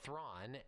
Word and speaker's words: Theron: And also Charlize Theron, or Thrawn, I've heard that's how her name is pronounced, plays Stella Bridger, the